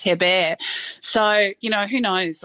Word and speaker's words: Herbert: to her bear because Herbert in French is pronounced her bear so you know who